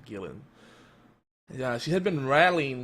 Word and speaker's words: Gillan: Some people say Gillian, but it's actually Gillan.